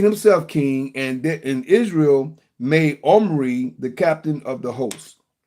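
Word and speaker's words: Omri: Wherefore all Israel made Omorray, say Omry, the captain of the host,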